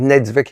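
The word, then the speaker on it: Niedzwiecki: It's Nedzvicki. I always get his name wrong.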